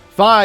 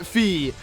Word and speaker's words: Fi: And, well, everyone used to say Fi was pronounced Fee. And, well, you were wrong. I used to always pronounce it Fi from when Skyward Sword first came out. I got so many people trying to correct me. But then we got the woman's voice in these, little prologue, recap sessions that we're going to have in the beginning of every scenario. She pronounced, Fi's voice Fi.